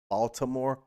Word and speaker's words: Baltimore: game yesterday that pronounced Baltimore, and I was like, that's somebody that's from the area that know what's up. You know what's up. Like, we don't say that T. That T is pointless.